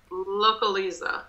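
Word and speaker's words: Localiza: avayanes yes right this brand how do you pronounce this uh localisa you got it localisa locally something crazy like loca localisa is a brand of it's a car rental 18.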